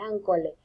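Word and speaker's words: accolé: Esa palabra me costó mucho pronunciarla, es ancolé.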